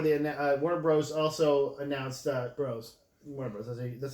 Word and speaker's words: Warner Bros.: Also announced Warner Bros. That's how you pronounce it.